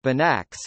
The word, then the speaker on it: Banach: In mathematics, more specifically in functional analysis, a Banach space pronounced Banach is a complete normed vector space.